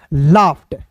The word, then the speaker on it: laughed: LAUGHED, तो LAUGH को पढ़ते हैं लाफ, और ED है दोस्तों तो इसे पढ़ेंगे लाफ्ट।